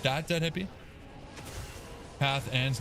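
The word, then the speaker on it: Cathan's: Cathons like that. Dead hippie. Cathans. Not cathons.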